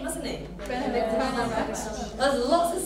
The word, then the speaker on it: Benedict Cumberbatch: But it's quite easy because you've got two stresses, Benedict Cumberbatch.